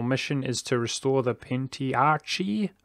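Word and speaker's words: Pentarchy: Our mission is to restore the Pentiarchy. Apparently that's how you say it. Or Pentiarchy. Still confused on that one.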